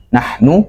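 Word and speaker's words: نحن: Nahnu, nunya pendek ya.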